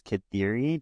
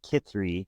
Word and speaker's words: Kithri: I think it's funny because I've always read this name as Kithiri, just like you said it, but it's pronounced Kithri in the episode.